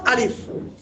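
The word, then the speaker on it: ألف: আলিফ লাম মিম দেখেন আপনি যখন আলিফ উচ্চারণ করছেন আ লি মানে তিনটা অক্ষর আছে অর্থাৎ আলিফ এই আলিফটা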